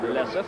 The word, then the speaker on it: Lessif: Lessif, despite the spelling of his name on the back of his jersey, it is pronounced Lessif.